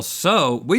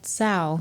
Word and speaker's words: Tso: But General So, we didn't know how to say this growing up. We said sow. To sell. I think I said that. Is that wrong? Well, I don't know how did you say it? General Tso. How do you say it? Did you say the T too? Sow? Tso.